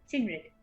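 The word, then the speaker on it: Cynwrig: help all this and shinrik yes that is how you say it yes i'm sure it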